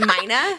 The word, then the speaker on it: Myna: I've always obviously known who you are, and you pronounce it Myna? Yes, Myna.